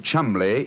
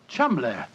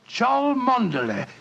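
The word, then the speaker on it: Cholmondeley: And being an American, he had no reason to know that the name Chumley is in no way pronounced the way it is spelt. But I never thought of that. Chumley.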